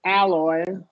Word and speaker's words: alloy: Okay, so we're gonna do wide short A there. The metal alloy.